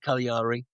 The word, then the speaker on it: Cagliari: The Mustangs were being represented by how do you pronounce that? Cagliari.